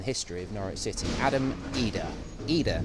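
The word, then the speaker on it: Idah: of Norwich City Adam eda either not hidin as hurt we've often been calling it as he's been coming through the youth system we're told his Adam EDA is how it should be pronounced and he has well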